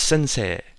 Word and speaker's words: sensei: E-I is not A, it's E. It's like a long, elongated E. So it's sensei and gakusei.